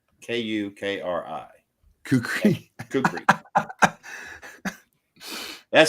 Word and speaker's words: kukri: But that's not how it's spelled. It's k u k r i k u k r i kukri kukri.